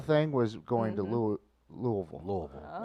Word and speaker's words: Louisville: Louisville. I was taught Louisville. 3 syllables.